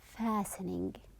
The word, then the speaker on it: fastening: When you are wearing it, when you are putting it, the seat belt, or we are calling it fastening. The T is silent.